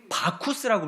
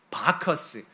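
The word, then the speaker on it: Bacchus: 그러니까 로마가 쓰던 라틴어로는 바쿠스라고 불렀는데이 바쿠스를 영어 영어식으로 읽으면 바커스 베커스라고 읽게 되고 그 이름이 우리 식으로 바뀌면서 바카스 바카스라고 붙이게 된 겁니다.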